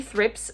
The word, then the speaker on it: thrips: thrips on this one did you know it's actually thrips for both a group and just the one one thrips i always say it